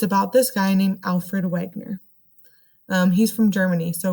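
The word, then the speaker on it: Wegener: this guy named alfred wagner um he's from germany so really i think the real way you pronounce it is alfred wegner i think so i think that's a german way to pronounce it um he was a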